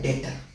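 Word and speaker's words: debtor: डेटर। क्या कहलाता है? डेटर। इसमें बी साइलेंट है।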